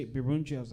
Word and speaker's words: Birungi: He looks down, looks up, and he's like, oh, Birungi, right? Is that how you say it? Birungi?